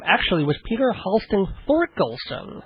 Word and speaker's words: Thorkelson: actually was Peter hon thorkelson well actually the H is silent it's Olen no oh